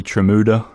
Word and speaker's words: Tramuta: If you're just joining us, this is the Earful Tower, and we're speaking with Lindsey Tramuta, rhymes with Bermuda.